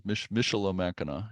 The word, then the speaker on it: Michilimackinac: Yeah, I think you're putting an N where the L is. Michilimackinac.